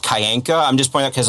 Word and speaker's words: Kyanka: Is his last name is pronounced Kyanka. I'm just pointing out because like a lot of the more other bios out there pronounce it as Kyanka.